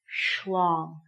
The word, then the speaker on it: schlong: it's called a schlong you have to schlong it to make it sound correct so the pronunciation is a little strange so you can practice schlong good next one very